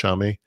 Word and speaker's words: Xiaomi: I don't want to mispronounce it, but I believe it's Xiaomi.